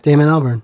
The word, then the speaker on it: Damon Albarn: Yeah, Damon Albarn.